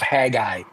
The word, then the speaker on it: Haggai: So I think in English it's pronounced from the book of Haggai, Okay.